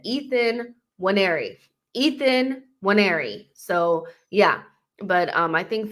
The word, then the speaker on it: Nwaneri: By the way, he actually said how he pronounces his name, Nwaneri, on that Premier League video.